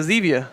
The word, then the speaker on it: Zevia: If you don't want to do that, grab a Zevia. You know. Oh my God, dude. What? Isn't it Zevia? Zevia. Is it Zevia? Like stevia, the sweetener.